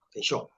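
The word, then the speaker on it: 見性: Kensho, así se pronuncia.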